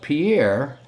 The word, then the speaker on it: Pierre: is it's pronounced pier it's spelt pierre but it's pronounced pier the state's nickname is